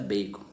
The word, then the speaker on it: Bacon: Pode pronunciar Bacon, tá? Não tenha medo, não.